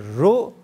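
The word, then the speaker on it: را: It must be pronounced either ro or o.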